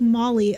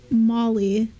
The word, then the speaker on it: Maholi: Sounds like Molly. Okay. Molly. Oh, H is silent.